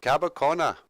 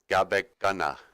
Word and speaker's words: Gabekana: where that is but Cabo Kona is actually just sort of a mispronunciation of Gabon Ghana and it means the